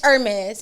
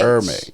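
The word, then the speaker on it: Hermès: It's Hermes. It's no H. Hermes. Yeah, it's no H, guys. I thought just so it you was. guys know. So what's the is H silent. for? The H is silent.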